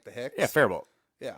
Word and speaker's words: Faribault: Yeah, Faribault. Yeah. You just don't say the T.